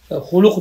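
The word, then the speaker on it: خلق: Hulk degen de, huluk de yazmayız yazgen de. Hulk de yazamız. Arap dilinden kirgen de bu söz bizge hulk bulup sükunliyiz tarzı kirgen. Huluk bulup zemmeliyemez. Ama meşhuru telaffuzda zemmeliyiz. Halkan ve hulukan. Hulkan deseyen buladı, hulukan meşhur. Asıl bulan.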